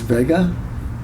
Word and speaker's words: Vega: And my last name is Vega, like Las Vegas without the S.